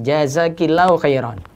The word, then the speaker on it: jazakillahu khairan: Ka dan ki. Ka itu menunjukkan laki-laki. Ki yang dengan kasrah menunjukkan perempuan. Jazakillahu khairan.